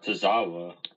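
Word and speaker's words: Tozawa: now and you know I forget there's uh tazawa I know how to pronounce his name Akira tazawa yeah Akira tazawa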